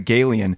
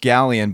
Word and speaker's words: galleon: So yeah, the next morning we were talking about it and we were like, what the hell is a Galian? And we looked it up and it's actually pronounced galleon, but a galleon is